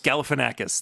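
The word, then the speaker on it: Galifianakis: galfan why can't I say his name galanakis galanakis thank you his mom in um the clown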